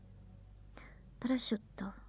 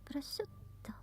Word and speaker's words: prosciutto: Prosciutto also. Prosciutto. That's another word that maybe it's pronounced wrong.